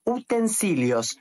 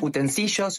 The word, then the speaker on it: utensilios: usas todos los días son los utensilios no utensillos no utensillos Por qué Porque se escribe así ya está la pronunci